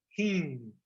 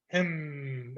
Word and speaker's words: him: One client, she's advanced, but she still says heen, heen. And so it's a nasally sound, heen. In English, we keep the M sound, So I want you all to pronounce this to yourselves, him, and it's nasally.